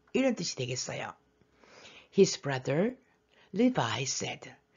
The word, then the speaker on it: Levi: 세 번째 아들이 레위예요 영어 발음은 리바이 리바이이 셋째 아들 레위 리바이 물론 요새 이제는 요셉하고